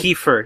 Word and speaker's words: Kiefer: Yes, Kiefer, yes. Kiefer. Yes, don't ask me why his name is spelled that way.